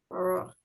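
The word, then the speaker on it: ברוך: so all the words you read, they have to be huh, huh, huh, huh. You keep making it like a K. Okay, it's better to be a huh. Baruch, So, which you read what?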